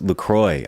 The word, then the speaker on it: LaCroix: and Lacroix Lacroix Lacroix so it's Lacroix I went to their website you know at the bottom it says Lacroix it rhymes with enjoy boom oh my god